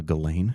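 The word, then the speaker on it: Ghislaine: Uh Galain.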